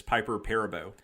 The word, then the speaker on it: Perabo: narration like I just recently learned that it's Piper Perabo I always said this one had the list